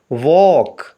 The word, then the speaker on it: walk: Word کے spellings ہیں WALK۔ اس میں ایل سائلنٹ ہے، اس کی آواز کو ادا نہیں کیا جائے گا، باقی 3 لیٹرز کی آواز کو ملا کر پڑھیں گے واک، یعنی چلنا۔ اگلے لفظ کے اسپیلنگ